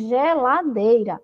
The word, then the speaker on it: geladeira: vamos ver o som geladeira ela é escrita com g mas ela tem um som de dirigir nós não pronunciamos neghet Ladeira para ter o som de gay nós pronunciamos geladeira Então ela tem um